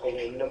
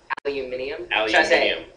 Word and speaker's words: aluminium: so wait let me how do you say it again aluminium aluminium i can't do that like more than three times aluminum aluminum is easy to say but it's uncomfortable and it's the wrong word really yeah you